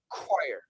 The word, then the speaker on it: choir: H O R E chore and C H O R choir. So chore. It's a long O plus R. Chore and choir. Choir. It's a K. Uh and it's like a long I plus R.